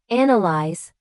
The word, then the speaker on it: analyze: Analyze stresses the first syllable. Analysis stresses the second and analytical stresses the third.